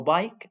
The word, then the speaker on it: bike: So if the letter I is followed by consonant plus silent E, the letter I says I and the silent E mix.